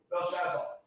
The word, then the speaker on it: Belshazzar: Belshazzar. I'll pronounce it for you. Belshazzar.